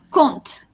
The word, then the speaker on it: compte: Oui, decimos compte. Esa P no se pronuncia.